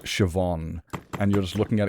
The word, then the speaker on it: Siobhan: It's kind of like reading an Irish name, you know, like Siobhan, and you're just looking at it going, there is no V in Siobhan.